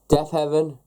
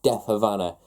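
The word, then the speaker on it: Deafheaven: Death Heaven, New Bermuda. I finally pronounced that right. I've been saying Death Havana for nearly a month now.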